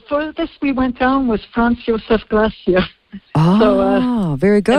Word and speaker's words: Franz Josef: No, the furthest we went down was Franz Josef Glacier. Ah, so, very good. I'm probably pronouncing that in the European way, Franz Josef. Franz Josef.